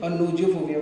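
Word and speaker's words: gnosophobia: नोज फोबिया ठीक है जी silent होता है जी एन ओ एस आई ओ पी एच ओ बी आई लेकिन इसको नोज फोबिया बोलते है ठीक है अगला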